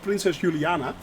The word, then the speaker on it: Princess Juliana: Took it to Miami to Princess Juliana in the that's actually how you pronounce it, Princess Juliana.